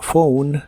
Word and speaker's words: phone: o como New y la pH de la palabra phone se pronuncia como una F a new phone a new